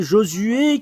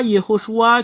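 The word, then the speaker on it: יְהוֹשֻׁעַ: le nom Yehoshua et Josué qui est Yehoshua si vous connaissez pas voilà Yehoshua que tout le monde prononce c'est Josué le Yehoshua que vous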